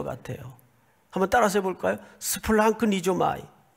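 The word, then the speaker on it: σπλαγχνίζομαι: 스플랑크니조마이. 이런 훌륭한 단어 하나 정도는 외워 가지고 있어도 그렇게 누가 뭐라 그럴 사람 없을 것 같아요. 한번 따라서 해볼까요? 스플랑크니조마이.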